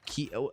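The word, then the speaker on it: Kei: It's just pronounced K.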